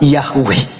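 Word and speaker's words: Yahweh: y he W he yang kita kenal sebagai yahu ya kita bacanya sebutnya yahwe Nah jadi teman-teman sekalian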